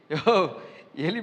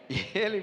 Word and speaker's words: ஏலி: நமக்கு சில நேரங்கள் சரியாக கூட ப்ரொனவுன்ஸ் பண்ணக்கூட தெரியாது. ஒருவர் சொன்னார், பாஸ்டர் போன வாரம் பேசின எலி பிள்ளைகள் நல்லா இருந்துச்சு பாஸ்டர். எலி பிள்ளை இல்லையா, ஏலி பிள்ளை.